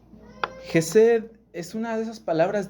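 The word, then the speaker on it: חסד: La palabra misericordia que nosotros encontramos aquí en el salmo 136, así en español, misericordia, es una palabra hebrea que se pronuncia Jesed. Jesed es una de esas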